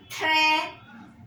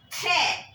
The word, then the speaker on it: très: So, le est très, T-R-E, accent grave, S. Très. For accent grave, the pronunciation of E will be blunt, très, and for accent aigu, it will be sharp.